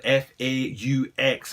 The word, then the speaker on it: faux: If anyone wonders how to pronounce the word F-A-U-X, it's faux fur overlays that go around